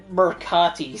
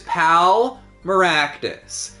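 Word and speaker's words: Pal Meraktis: I almost said Mercatis. So the doctor's name is Pal Maractus. It's a play on Malpractice. God, Malpractice. So just pronounce it like that and then switch out the P for the M.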